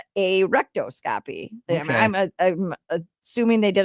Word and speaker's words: rectoscopy: A rectoscopy. Spell that out.